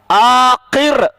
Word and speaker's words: عاقر: کیف ننطق الرا، عاقر، عاقر یعنی الفم مفتوح والرا یتکرر، یعنی منہ کھلا ہوا ہے. عاقر، عاقر دیکھو منہ کھلا ہوا ہے اور یتکرر ہے.